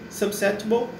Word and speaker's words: susceptible: Então e o P ele não é pronunciado, mas você dá uma pausa, então fica susceptible. Então você não pronuncia o P, não é susceptible ou susceptible, mas você dá uma pausa na hora de falar entre o S e o T.